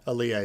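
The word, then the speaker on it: Alia: The one that I remember is that Anya Taylor-Joy's character, who I don't know how they pronounce it in the book, but I read it as Aaliyah. Aaliyah, yeah, that's how they say it.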